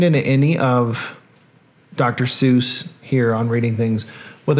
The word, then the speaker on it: Seuss: pieces of trivia are he originally pronounced his last name sois or his voice not Seuss but he switched it because it ran with mother Goose and at the time